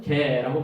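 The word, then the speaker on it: γῆ: 헬라어로는 게라고 발음합니다.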